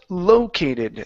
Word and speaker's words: located: Uh let's go to um okay this word here uh the word is pronounced located. The stress is at the very very beginning.